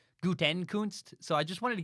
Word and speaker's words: Gutekunst: I know it's Gutekunst, not Gutekunst.